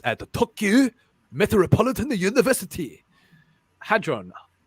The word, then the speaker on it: hadron: here a physicist at the tokyo metropolitan university hadron it's pronounced hadron hate that's a large hadron collider